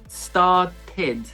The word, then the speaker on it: started: e d por exemplo started bem como pronunciei o e ali no final e need também pronunciei